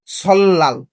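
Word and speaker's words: 설날: সল্লাল। মানে রিয়লের পরে নিয়ন থাকলে কি উচ্চারণ হবে? লয় ল। রিয়লের পরে নিয়ন থাকলে কি উচ্চারণ হবে? লয় ল। তাহলে উচ্চারণ কি হবে? সল্লাল। কি উচ্চারণ হবে? সল্লাল।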